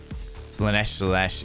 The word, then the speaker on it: Slaanesh: Slaanesh, it rhymes with flesh.